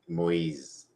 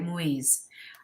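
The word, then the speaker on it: Moïse: Moise. Right, Moise.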